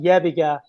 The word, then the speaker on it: Yebiga: But I am getting a lot of people from Serbia who hear about it because it's pronounced Yebiga.